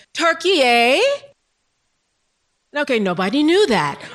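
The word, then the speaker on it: Türkiye: Now, the umlauts are those two dots over the U, and they indicate kind of a different vowel quality using fronting and rounding of the mouth.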